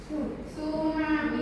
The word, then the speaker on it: tsunami: kata yaitu is isu itu bukan isu tapi itu t sama s sama bacanya tu tsunami ya tunami yang berartii